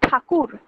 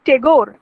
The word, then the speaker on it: ঠাকুর: সেই জায়গায় চলে এলো ঠাকুর, যেটা ইংরেজদের উচ্চারণের ত্রুটিতে হয়ে গেল টেগোর, তাই রবীন্দ্রনাথ ঠাকুর বা রবীন্দ্রনাথ টেগোর।